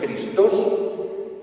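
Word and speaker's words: Χριστός: Fíjense que la X de Cristo en griego, Christos en griego, Christos en griego, la J, que pronuncia la X como J, Christos, está escondida la Santa Cruz.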